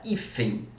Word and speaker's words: hífen: A palavra hífen. Vamos aí, pessoal. Hífen, qual que é a sílaba tônica? É o I.